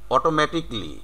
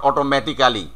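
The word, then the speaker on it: automatically: বাট the real pronunciation is অটোমেটিকলি, নট অটোমেটিক্যালি।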